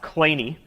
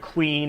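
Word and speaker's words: Kleene: from the son of the namesake this is pronounced clay knee oftentimes we'll hear it clean or cleany I won't correct you because I haven't heard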